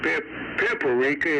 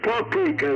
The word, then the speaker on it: paprika: It's not Pipper Rica. It's paprika now."